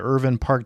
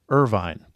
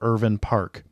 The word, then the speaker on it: Irvine: So, are you ready to take the Irvin Park Challenge with me?